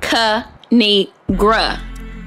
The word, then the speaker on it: Kinigra: me tell y'all a thing of three it's pronounced kanigra now subscribe I crack myself up thanks for